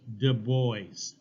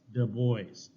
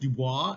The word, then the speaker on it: Du Bois: Du Bois. Du Bois, okay, like the boys. Now, it should be pronounced Dubois, as of the forest in French, but he always pronounced it Du Bois.